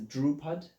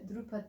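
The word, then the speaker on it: Dhrupad: But yeah, so I was interested about the musical is it practice of Drupad? Am I saying it right? So that's Drupad.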